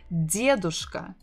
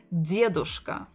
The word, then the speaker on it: дедушка: The full form would be дедушка, дедушка, stressing the first syllable, дедушка, дедушка.